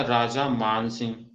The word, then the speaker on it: राजा मान सिंह: आया राजा मान सिंह, तो MAN आया, तो उसमें हमने उसको मान पढ़ा, ओके, राजा मान सिंह। तो इसको राजा मन सिंह मत पढ़ना, ओके। तो आपको ये क्लियर होना चाहिए, आपको अंडरस्टैंडिंग होनी चाहिए कि इसका प्रोनाउंसिएशन क्या होगा। तो राजा मान सिंह होता है, राजा मन सिंह नहीं होता, ओके।